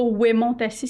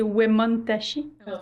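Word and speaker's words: Wemotaci: Opitiwan, Wemontassi, c'est pas Wemontassi, c'est Wemontashi. Il n'y a pas de H.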